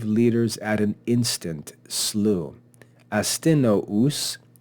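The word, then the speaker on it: Astynous: Astinous, notice the 2 dots above the U, that's called a diaresis or diaresis. That tells us that this should be pronounced as 2 syllables.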